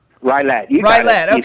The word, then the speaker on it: Rylett: Is that how do I pronounce your last name? Rylett.